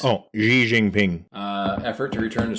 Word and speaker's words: Xi Jinping: we've already talked in this episode about me pronouncing things z jinping's Oh Xi Jinping uh effort to return to socialism so maybe